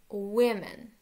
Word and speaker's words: women: Я знаю, что здесь стоит буковка O, и знаю, что здесь мы ее читали как U, и здесь она стала как I. Таковы правила произношения. Women.